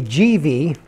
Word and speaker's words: Givi: box now what i settled on was a gv and that is the way you pronounce it according to the company i know